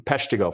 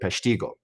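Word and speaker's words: Peshtigo: Some people like to tell me it's the Pesigo fire. That's that's how the the modern Wisconsin will refer to it, but the natives pronounced it Pestiggo.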